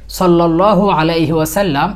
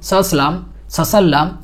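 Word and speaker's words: صلى الله عليه وسلم: উচ্চারণ করলে বা শুনলে আমরা সাধারণত সংক্ষিপ্ত দরুদ হিসেবে সাল্লাল্লাহু আলাইহি ওয়াসাল্লাম এটা বলে থাকি কিন্তু দুঃখের বিষয় হচ্ছে এই ছোট্ট দরুদ শরীফটি উচ্চারণের সময় আমরা অধিকাংশ মানুষই অসম্পূর্ণ অশুদ্ধ বিকৃত এবং ভুল উচ্চারণ করে থাকি যেমন সালাম সসাল্লাম এরকম বলে থাকে আবার অনেকে স্টাইল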